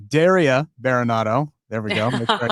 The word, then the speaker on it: Daria Berenato: All right, Daria Baronado.